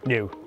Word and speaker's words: NIU: to the new new because there is new pronounced new anyway you get the